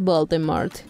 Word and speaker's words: Voldemort: era la correcta pronunciación se supone que realmente no tienes que pronunciar la t del final número 8 la franquicia